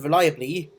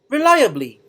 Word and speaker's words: reliably: synonyms for the word reliably include dependable responsible and trustworthy and here's how you pronounce a word reliably reliably reliably as you can see the second syllable of this word is stressed now let's take a